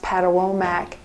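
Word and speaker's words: Patawomeck: And then there is a preservation area there for the, I believe it's pronounced Patawomack Indians from America that have preserved some area up there.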